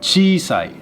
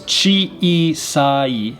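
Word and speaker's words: ちいさい: means mouth in japanese chi sai chi sai means small now this is chi isai not chisai but chi sai a long e sound atsi means hot it's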